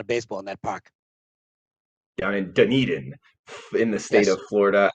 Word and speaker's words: Dunedin: mispronounced all the time people call it dunadin dundin whatever uh it's dunedin and uh i have